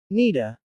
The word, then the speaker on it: need to: Native speakers often pronounce need to as needa. For example, I need to go may sound like I need to go. Quote, this connected speech is very common in spoken English.